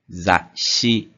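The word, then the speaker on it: 雑誌: Zashi. Essa palavra em específico, zashi, a gente tem um tsu pequeno. Então, isso significa que a gente tem que demorar um pouquinho mais para pronunciar a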